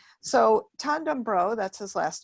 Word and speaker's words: Tan: Again, my name is Coach Tan. It's pronounced like wonton or John with a T.